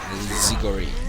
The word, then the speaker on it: Zigori: It's there displayed all the time, and you're saying it wrong again. Zigori.